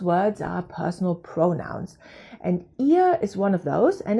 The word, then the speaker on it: ihr: online first of all the pronunciation of ihr is here it sounds like my ear not my nose needs a little bit